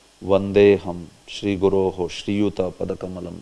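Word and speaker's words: वन्देऽहम्: But if it is coming in the verse, then you have to say it like this only. Vandeham, Vandeham.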